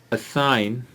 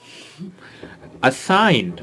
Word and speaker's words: assign: हाँ, आज हम कुछ लफ्ज देखेंगे जिनमें जी की साउंड साइलेंट रहती है। For example, असाइन, thank you, anybody wants to have some tea? Okay, coming back to the topic, thank you, you can go. Assigned, first of all, किसी